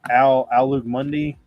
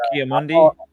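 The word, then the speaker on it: Ki-Adi-Mundi: I bought a Emperor Palpatine, a Doc Andor, and a I can never pronounce the guy's name right. The Alug Mundi. Kiamundi. Oh, Kiamundi.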